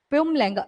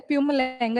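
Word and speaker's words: Mpumalanga: प्यूमलगा। यहां पे am silent होता है। प्यूमलगा इस जगह का नाम है।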